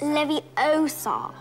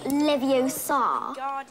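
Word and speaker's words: Leviosa: you saying it wrong it's Lev Oar not Levi Oar you do it then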